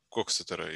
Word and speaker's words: Коксетер: Еще часто пишут Коксетера. Но ударение, конечно, правильно говорить Коксетера, и поэтому, в общем-то, как слышится, так и пишется, это, в общем, не очень большая разница. По-английски он Коксетер.